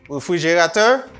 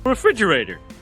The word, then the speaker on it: refrigerator: do you pronounce it nope refrigerator nope it's refrigerator refrigerator repeat after me refrigerator with free generator